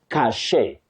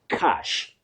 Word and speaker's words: cache: Many people innocently mispronounce that word as cachet. Cachet? No. You say cash.